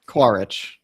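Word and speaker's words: Quaritch: And I also think it really makes the villain and I always mispronounce his name, Steven Lang. Is it Cororic? Quaric.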